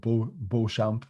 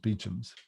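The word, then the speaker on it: Beauchamps: firm big big firm it looks like they're called bull champ but they're actually it's pronounced beachums so typically you go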